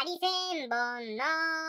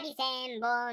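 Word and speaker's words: 針千本: でうついたら針千本のイントネーションやと魚の方になるけど針千本飲まさ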